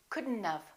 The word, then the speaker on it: couldn't have: add this element we do it like this couldn't of don't pronounce the o don't pronounce the t this one is hard isn't it let's practice it again couldn't couldn't of okay should not have becomes shouldn't of would